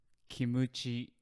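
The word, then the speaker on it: キムチ: surprising and that is kimuchi nabe kimuchi nabe so kimichi is a Japanese pronunciation for kimchi yeah um yes originally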